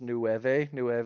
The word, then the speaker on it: Nueve: It's Nueve. It's 9 in Spanish. Because I'm from New Mexico, so that's how you say it.